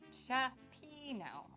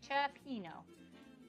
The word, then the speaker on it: cioppino: Cioppino. Okay, thank you, Top Dog. I said it right. Cioppino.